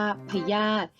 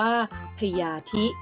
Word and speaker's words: พยาธิ: สะ อิ อิ คัน นี้ อ่าน ออก เสียง ได้ สอง แบบ แบบ ที่ 1 ออก เสียง ว่า พยาธิ หมาย ถึง ชื่อ สัตว์ ไม่ มี กระดูก สัน หลัง นะ คะ ส่วน การ อ่าน ออก เสียง แบบ ที่ 2 ให้ ออก เสียง ว่า พญาธิ ซึ่ง หมาย ถึง ความ เจ็บ ไข้ หรือ ความ เจ็บ ป่วย นั่น เอง ค่ะ เมื่อ นำ